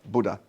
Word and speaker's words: Buddha: She said, in my office I have a Buddha, am I pronouncing Buddha? We say Buddha over there, but you guys pronounce it like you hit the D.